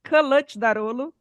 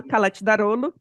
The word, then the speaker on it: Kılıçdaroğlu: I sem ponto é C cedilha é tchê, G com tio é uma letra muda, enfim.